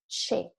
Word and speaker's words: che: The second word, you have a C and the E without an H in the middle, is che, cesto, soft sound.